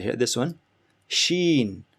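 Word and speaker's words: شين: Next we have ish, right here, this one, sheen. Sheen is very straightforward, easy, just like English. It's a combination of S and H, like Sean. When you say Sean or shampoo, it's that sound, shaw, sheen.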